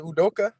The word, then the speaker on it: Udoka: know how to say his name i mean adoku did he play for the warriors back in the day yeah he made udoka yeah yeah there you go yeah doga please